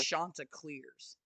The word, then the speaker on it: Chanticleers: Chanticleers. I want to make sure. Shut your mouth. That's how it's pronounced.